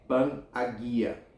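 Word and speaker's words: Panagia: Os padres da tradição oriental chamam a Mãe de Deus a toda santa, Pan-Agia, pronuncie Pan-Agia.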